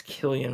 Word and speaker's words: Cillian: it's Killian Murphy, even though it's spelled with a C.